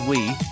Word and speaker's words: Wii: unique at the time the Wii is pronounced as we which emphasized that the